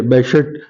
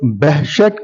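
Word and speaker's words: Behçet: ये बेहशत. सो इसका प्रोनाउंसिएशन कुछ लोग बहशत करते हैं, कुछ BEH करके बहशत, जो प्रोनाउंसिएशन टर्किश है, और कुछ जो इंग्लिश है वो बेहशत कहते हैं. तो दोनों एक्सेप्टेबल है.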